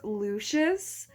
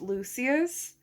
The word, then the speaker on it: Lucius: imagined it i think in the audiobook it's lucious but i thought it was pronounced lucius so i'm not sure what version to go with now jessen our heroine she is human and lucious lucius these have human